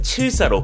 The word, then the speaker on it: 7사: 국내 상표권 등록이 완료됐습니다 이름을 영어식으로 읽을 때도 숫자 74를 74가 아닌 한글 발음 7사 부르도록 정했기에 세계 어디서든 현대 n